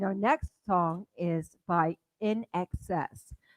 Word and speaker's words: INXS: All right, our next song is by In Excess. How And do you this is spell that, Brenda? In Excess, James. INEXCESS. And this is another Actually, no, that's Australian. not true. Yes, it is. It's INXS.